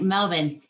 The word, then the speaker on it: Melbourne: in melbourne australia and that's right melvin um you have to learn how to pronounce it that's one of the